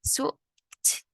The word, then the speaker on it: swooped: Swoop. Sau đó là đuôi. Ed ở đây mình sẽ đọc là t.